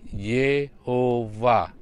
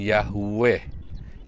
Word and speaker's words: Yehuwa: tetragrammaton you'd heboh Hei menurut aturan massora membacanya adalah Yehuwa bukan Yahweh Yahweh adalah sebuah turunan action dari bahasa Yunani justru tapi yang benar adalah Yehuwa kemudian Kalau saudara lihat